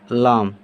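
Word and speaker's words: ل: ये हो गया लाम, जिसका उच्चारण क्या हो जाएगा? लॉ।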